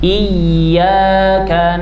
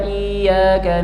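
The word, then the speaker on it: إياك: Ya bertasydid perlu ditekan nabr perlu ditekan suaranya supaya menunjukkan bahwa di situ terdapat tasdid. Jangan di flatkan suaranya jangan didatarkan. Iyyaka na'budu wa iyaka nasta nanti maknanya akan berubah ya.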